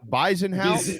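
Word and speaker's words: Bezuidenhout: with the guy's last name but buys it bison house i think that's how you say it never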